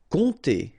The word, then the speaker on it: compter: Compter. Alright, so OM, really like a nasal here. On, and then this P is not pronounced.